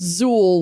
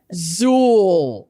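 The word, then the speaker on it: Xul: Zuul beer XU L but pronounced Zuul like with a Z. Don't get it wrong. They're really adamant about it on the homepage of their website. It's Zuul.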